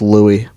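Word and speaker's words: Louis: tell you all about Lewis the 14th SOC pronounced Lou shut up Socrates and the Magna Carta but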